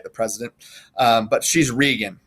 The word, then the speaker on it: Regan: And I've heard it pronounced both Regan and Reagan. I think it's actually Regan because it's English, it's British. But I think sometimes we call her Reagan because we had Ronald Reagan, right?